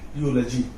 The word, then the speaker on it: eulogy: यूलॉजी। अब मुझको अगर इसका उच्चारण करना आ गया, यानी ई के बाद अगर यू है या डब्लू है तो हम क्या पढ़ेंगे? यू से उच्चारण करेंगे।